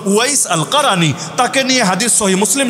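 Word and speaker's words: أويس القرني: যারা বাংলায় আপনারা বলেন ওয়াইজ কুরুনি, ওয়াইজ কুরুনি ভুল উচ্চারণ, মূল হলো ওয়াইস আল কারানি।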